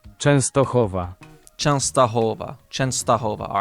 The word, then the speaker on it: Częstochowa: Yes, there is Częstochowa. Okay, so it's got the E with the little tail, so Częstochowa. Częstochowa. How does this get pronounced? Częstochowa.